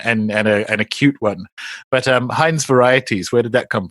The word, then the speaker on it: Hine: And with my name being Hine, the word for the company Heinz, Heinz, sounding phonetically similar, when I was at